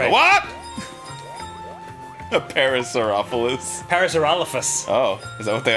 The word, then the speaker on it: Parasaurolophus: Sometimes mispronounced as Parasaurolophus, but that's not correct. Parasaurolophus. I would think so because of the sore.